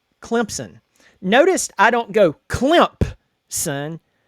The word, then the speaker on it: Clemson: Just Clemson. It's fast. It's almost like there's a passive P there, but not.